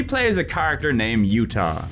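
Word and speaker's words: Jutah: In Silent Bomber, we play as a character named Utah, like the state but with a silent J at the front.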